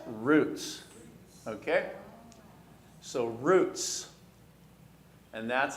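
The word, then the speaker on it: רוץ: So let's sound those out. A resh sounds like what? A vav here sounds like oo. And the tzadeh sounds like ts. And so if we pronounce it, that's roots.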